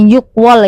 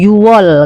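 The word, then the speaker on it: 유월: Terus kalau bulan Juni itu bukan Yukwol ya, tapi Yuwol kayak itu ya. Kan harusnya Yukwol kan, tapi dibacanya Yuwol yang benar ya kalau untuk bulan ya.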